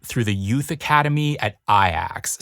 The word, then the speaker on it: Ajax: the Youth Academy at aax spelled like Ajax the most successful Club